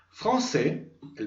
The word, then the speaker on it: française: Recuerden que, aunque esa E final que se va a agregar en el femenino no se pronuncia, a partir de ese momento me obligará a pronunciar todo lo que esté antes de ella.